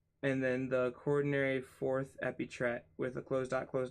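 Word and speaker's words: epitrite: And then the second epit.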